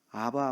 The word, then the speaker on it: 아바: 겁니다 그래서 우리는 하나님을 아바 아버지라고 부르죠 아바 아버지가 뭐예요 네 아빠 이게 아빠라고 하는 한국말 발음하고 똑같은 거예요 아바 아버지 아빠 아버지